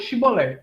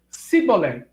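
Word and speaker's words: shibboleth: próprio de determinado dialeto diz depis shibolet porém ele dizia sibol porque não podia pronunciar bem então pegavam um dele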